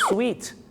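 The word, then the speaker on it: suite: room I Want The Suit room มัน ไม่ ใช่ ห้อง เก็บ สูตร นะ ครับ คุณ ผู้ ชม ห้อง สูต นะ ครับ ผม ที่ จริง แล้ว ต้อง เรียก ว่า Sweet s u i t e ครับ ส่วน พี่ น้อง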